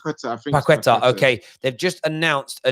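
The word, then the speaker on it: Paquetá: It's Portuguese. Paqueta, I think it might be pronounced. Paqueta.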